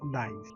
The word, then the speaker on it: gneiss: Second one, this is gneiss, or the pronunciation is nice.